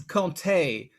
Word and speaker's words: Comté: first key element is how the name is pronounced it's conte so now that we have that down we